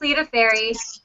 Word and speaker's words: Lita Ferry: But next we have Lita Ferry. Is that how you? I've always wondered how you pronounce that. Is it Lita Ferry? Yeah, it's Lita Fairy.